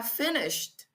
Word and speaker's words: finished: Y al momento de pronunciar aquí ese e d suena como una d al final, como o acercándose a